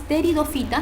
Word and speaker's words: pteridofitas: Y aquí hay dos grupos, están las pteridofitas, no se pronuncia la P, ¿ya?